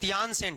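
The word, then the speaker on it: Tientsin: king S लगता है इसको कहते न सेन treaty of टी ई आई टी ई एन एस आई एन बैठ के अंग्रेजी उच्चारण नहीं करना न सेन लिख दो चप दोनों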